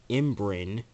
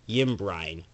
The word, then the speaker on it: Ymbryne: In old peculiar language, the word imbrin, pronounced imbrin, means revolution or circuit. Because, like, the first time when I looked at it, I call it Yimbrine, because it's Ymbrynes, like Yimbrines.